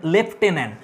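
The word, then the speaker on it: lieutenant: এবার চলেস আমরা Lord লেফটেনন্ট। এর উচ্চারণ হচ্ছে লেফটেনেন্ট। বানানটা দেখো লিউটেনেন্ট।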